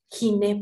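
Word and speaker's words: γυνή: Giné, por ejemplo. ¿Qué ocupa giné? ¿Ginecología? Exactamente, la especialidad que estudia la mujer específicamente viene la palabra ginecología. La diferencia es que nosotros en griego pronunciamos la G suave, gi, y en castellano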